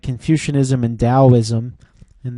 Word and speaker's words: Taoism: things like Confucianism and Taoism and that that's pronounced like a D and then if you